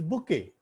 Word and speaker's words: bouquet: It is not bouquet. It is bouquet. T is silent there. Bouquet.